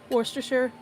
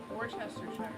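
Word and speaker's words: Worcestershire: But Bunny says it correctly. Worstershure. Yeah. Yep. My my my wife. What do you say it again? I pronounce it correctly. All you got to do is pronounce it correctly. Love. Just say it again. Worchester. No. Incorrect.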